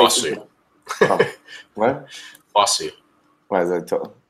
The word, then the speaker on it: Fosu: And I say Fosu. What? Fosu. What is that? Is it really? Yes, Fosu Mensah, not Fuso.